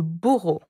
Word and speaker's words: bourreau: So in French it would be le bourreau. Le bourreau. Le bourreau. How do you spell that? B-O-U-R-R-E-A-U. So the sound O is often A-U or E-A-U.